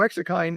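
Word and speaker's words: exerkine: So, exercine is um or exercind.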